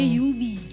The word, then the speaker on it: Juby: Jubi itu ejaan lama, orang-orang yang udah kenal Jubi tuh manggilnya Yubi. Yubi, kenapa tuh? Karena memang sesuai, itu kan Jubi ejaan lama, abjad lama ya. Oke. Bacanya Y gitu kan, Jubi. J jadi Y gitu ya, oke.